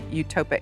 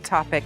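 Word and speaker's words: ectopic: And then Sandra ended up in the hospital bed because she had a utopic. How do you say that? Etopic. Etopic Pregnancy, right.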